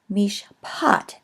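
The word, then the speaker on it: מִשְׁפָּט: So mish, mishpat, the final syllable, gets the stress, and this is going to be an A vowel because it is in a stressed syllable.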